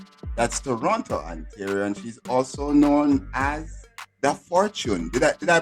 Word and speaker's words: Dafortune: And she's also known as Dafortune. Did I pronounce the name correctly there?